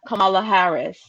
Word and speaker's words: Kamala Harris: voting for him is that we would have kamala harris can i say his name right did i